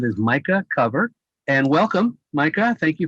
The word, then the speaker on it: Micah Cover: this uh thank you lorenzo yeah uh it's micah cover i know you were uh you were kind enough to ask about the pronunciation i do have i guess an unusual